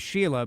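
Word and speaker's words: Shelagh: Uh so you know and and your name is Sheila but it's spelled sh e l a g h.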